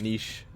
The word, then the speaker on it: niche: like neat head like it's nitch or is it niche I think you could pronounce that word both ways okay it had like